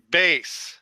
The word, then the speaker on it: bass: a purple what guitar bass bass guitar yes it is spelled like the fish but it is not so it is